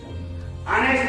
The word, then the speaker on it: honest: నెక్స్ట్ second rule వచ్చేసి silent letter of H. అంటే H తో వర్డ్ స్టార్ట్ అయ్యే వర్డ్స్ కి H సైలెంట్ గా ఉన్న వర్డ్స్ కి ముందు మనం యాన్ అనేది యూజ్ చేయాలి. Example an honest man.